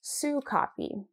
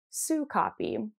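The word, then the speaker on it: Sokapi: So the name of this yarn from Farmer's Daughter Fibers is Sue Copy. So I just want to get that out there because I've said it wrong twice now on my podcast. It is Sue Copy, and it means good in Blackfeet.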